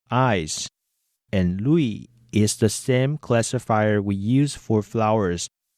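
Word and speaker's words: 三: In this phrase, bat jiu means eyes, and lui is the same classifier we use for flowers, but in this context, neng lui means a pair.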